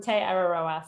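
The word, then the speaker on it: Te Araroa: Is it the Te Ararora Trail? Is that how you pronounce it? Yeah, Te Ararora.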